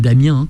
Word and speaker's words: Damien: Damien eckles entre autres je le prononce à l'américaine Damien non mais allez-y mais